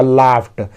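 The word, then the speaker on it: laughed: तो हम फ बोलना है, फ। तो यहाँ पे ट उच्चारण होगा, लाफ्ट, उस पर हंसने लगे सब लोग।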